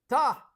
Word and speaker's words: tá: Number two, ta, like T-A, and it has an accent on the A.